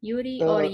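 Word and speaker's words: Jiří: Yuri is that how you pronounce your name Yuri yes you pronounce it okay okay I tried right honestly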